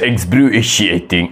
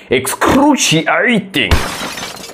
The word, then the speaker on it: excruciating: c i a t i n g is excuting excruciating excruciating I'm sorry that's a wrong pronunciation it's excruciating excruciating it's excruciating how would